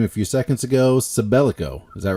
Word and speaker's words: Sabellico: Sabellico, is that right? Yes, you nailed it. Sabellico. Well done. Perfect enunciation. I'm not sure what the proper way to pronounce or enounce.